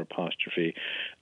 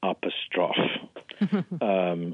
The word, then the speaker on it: apostrophe: pronounce it, which is apostrophe, and three syllables rather than four, with the emphasis on the final syllable.